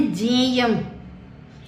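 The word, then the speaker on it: ज्ञेयम्: किसी किसी स्टेट में इसे गे पढ़ते हैं, किसी किसी स्टेट में इसे जय बोला जाता है। वास्तव में यह जय और य से मिलकर बना है। किससे? जय और ये, इसलिए इसका सही उच्चारण क्या है? जय।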